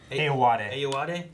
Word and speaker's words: Ayoade: Ayoade is how you pronounce it.